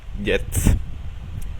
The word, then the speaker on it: Jetzt: La letra J siempre se pronuncia como una doble L. Por ejemplo, la palabra ahora. Jetzt. Jetzt.